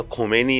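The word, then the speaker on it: Khomeini: यस, वो खोमेनी थे, ये खामेनी है। अच्छा, ये बड़ा इंटरेस्टिंग फैक्ट है, क्योंकि लोग अपने हिसाब से इनका उच्चारण करते हैं, कुछ खुमैनी कहते हैं, हाँ, कुछ खामनेई कहते हैं।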